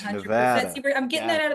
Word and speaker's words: Nevada: Yeah, SPCA of Northern Nevada would love your donation. I appreciate that. Absolutely. Got it. Nevada, not Nevada, Yeah, correct? 100%. Nevada.